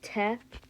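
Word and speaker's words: Т: It's pronounced te. It's just like the English T, but instead, like just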